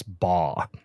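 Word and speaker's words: Baugh: Um but I think it's Chris Ba is the way you pronounce it. It's B A U G H.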